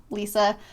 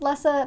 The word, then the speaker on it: Lessa: the main character um lisa i'm sure her name is actually pronounced lessa that's how the narrator said it but it has always been and will always remain as lisa in my brain so it's going to